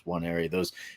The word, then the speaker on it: Nwaneri: And then defensive lineman Williams Nwaneri, I think is how you say his last name. It starts with an N, but it's NW, so it's Nwaneri.